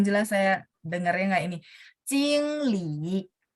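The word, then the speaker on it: 经理: Jingli.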